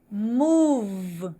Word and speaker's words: move: Move. Veja que o eu não pronuncio aí, tá?